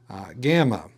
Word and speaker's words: gamma: Gamma, in some print that can be easy to mistake as an English Y, but rather it is a hard G, like guess, unless it